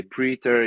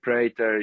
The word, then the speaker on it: Praetor: again you can say ptor you can say pritor you can say pto you know uh it's not wrong so it's okay you